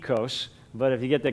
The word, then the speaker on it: oikos: The first word, you have yogurt that you call maybe oikos. The Greeks would pronounce it ekos.